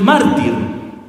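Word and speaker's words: μάρτυς: Y la palabra testigo en el original, en el griego, es mártir. Mártir, así se pronuncia, mártir.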